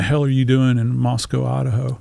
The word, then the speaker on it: Moscow: you have to pronounce Moscow, not Moscow. They take exception to that, so you have to think Costco. So Moscow.